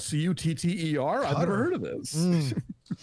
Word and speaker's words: Qatar: country that is spelled q-a-t-a-r pronounces it cutter and not qatar which is what they say in this movie wow i would have